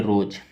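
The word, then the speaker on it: rose: आर से र, ओ से ओकार, एस ई का उच्चारण नहीं होगा, और एस को हम लोग यहाँ ज पढ़ेंगे, इसको बोलेंगे रोज।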